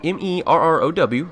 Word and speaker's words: Merrow: It's spelled M-E-R-R-O-W, Merrow.